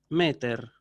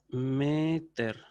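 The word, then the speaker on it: μήτηρ: que en griego es meter. Meter, así, ¿sí? Entonces, pater, con acento agudo al final, pater, padre. Meter, con acento agudo, pero en la sílaba anterior, madre, ¿sí?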